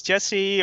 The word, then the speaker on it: Jesse: so my name is jesse or if you can pronounce the dutch um so i work